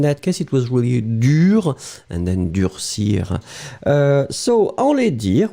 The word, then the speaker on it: dur: So it will be dur, masculine form would be dur, D-U-R, and then feminine form, remember that you will have to add in the end. Pronunciation will be exactly the same. So whether it's the masculine, dur, D-U-R, feminine form, dur, same pronunciation, D-U-R-E.